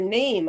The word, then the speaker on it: GNAMP: oh that's just fine because then they're saying the gnamp group so that sounds cool too yeah that's totally fine i'm not i'm not too worried about people mispronouncing it but um so nam stands for it's all of